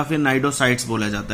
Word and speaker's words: Cnidocytes: अगर आपसे कोई पूछे तो नाइडोब्लास्ट और नाइडोसाइट्स टेंटिकल्स को बोला जाता है और इसीलिए because of these name it is called as the Cnidaria. यहाँ पे सी साइलेंट है सभी में।